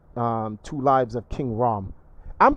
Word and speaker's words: Rhoam: mysterious and secret um two lives of king rahm i'm pronouncing his name right it's rahm right um well i'm pretty sure he pronounces it rome if it's if it's uh if it